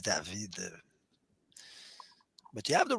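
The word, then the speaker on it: דָּוִד: So how do you pronounce David in Hebrew? David. And if it's older, probably we have no recordings of the time of Moses. Would be cool, huh? But perhaps they used to pronounce Dawid. Yeah, Dawid. Yeah. But we cannot really know. But we pronounce like David for many reasons in modern Hebrew.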